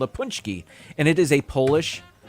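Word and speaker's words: pączki: don't know but uh it's spelled p-a-c-z-k-i punch key anyway that's the way they pronounced it uh on the news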